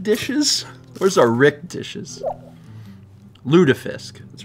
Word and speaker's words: lutefisk: get some Rick dishes where's our Rick dishes ludafisk that's right it's pronounced what's lutefisk it's Cod that's been soaked in live you